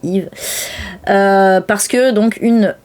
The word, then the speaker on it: Eve: Enfin, Yve et Charlie, il faut prononcer Yve.